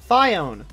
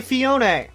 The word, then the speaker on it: Phione: have actually fixed surprisingly phione fiown both are wrong hang up the phone and say Fiona this is the special